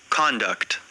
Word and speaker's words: conduct: हमेशा कॉन्डक्ट भी नहीं बोला जाएगा, हमेशा कंडक्ट भी नहीं बोला जाएगा. एज ए नाउन यूज करेंगे कॉन्डक्ट, कॉन्डक्ट, कॉन्डक्ट. तो कौन पर स्ट्रेस है? conduct, once again. conduct, कॉन्डक्ट, कॉन्डक्ट, कॉन्डक्ट पर स्ट्रेस नीचे आ जाता है, लेकिन यहाँ पर देखो conduct, अब कौन को कर्ण बोला गया, स्ट्रेस कम दिया गया और डक्ट पर स्ट्रेस डाल दिया गया, तो आप क्या बोलोगे, कंडक्ट,